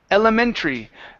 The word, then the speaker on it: elementary: your last word is Elementary um watch the r at the end of the word instead of elementary elementary